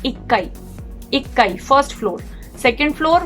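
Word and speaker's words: 一階: तो इची काई ना बोल के ही होता है इक्काई, इक्काई फर्स्ट फ्लोर।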